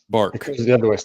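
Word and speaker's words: Barq's: A&W the other one bargs okay is that what it's called how do you say it it's a hard Q it's like a k bark a dog I thought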